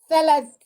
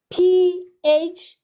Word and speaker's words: phthalate: That skin, it comes with the chemical called the phthalate. Let me spell it.